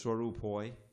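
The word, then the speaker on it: স্বরূপ হয়: Okay, so one of the things in the Bengali, you don't get in the Sanskrit, you get some silent letters, like the final A's. So it's Swarupoi, but the final A on Jivera is sound.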